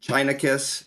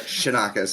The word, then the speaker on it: Chianakas: Yeah, I'll tell you, Chianakas, Chia Pet, Chicken Ass, I've heard it all, but Chianakas is how it goes.